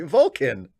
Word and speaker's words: Vulcan: the Latin word Vulcan exactly Vulcan it's a schw in the second syllable just FYI okay Vulcan isn't that